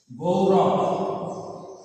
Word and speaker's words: গৌরব: ও রস্যু ও যেমন উচ্চারণ হয় তেমন, যেমন গৌরব। গৌরব এই শব্দটিকে গয়ে ঔকার আছে, আমরা সেটা দেখি। তাহলে গয় ঔকারে রস্যু গৌ, রব রব, গৌরব।